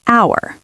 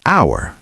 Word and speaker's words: hour: For example, an hour. The H is silent, so it starts with a vowel sound. We say an hour, not a hour.